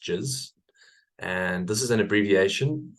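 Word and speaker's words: GISS: It's called jizz. So it's spelled G-I-S-S, but pronounced jizz.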